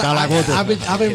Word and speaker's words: Calacote: I've been trying to pronounce that since I read it right here. No, Kalacote.